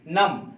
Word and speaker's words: numb: फिर नम, NUMB, नम. यहां पर बी साइलेंट हो जा रहा है, याद रखना है.